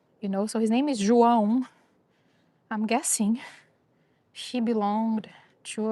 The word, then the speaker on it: João: So, I guess if you would say it in English, you'll say Jo- Jo- Joal. But, I'm think I'm I'm saying it's a Brazilian name, which is João, which I know it's hard to pronounce, so that's okay.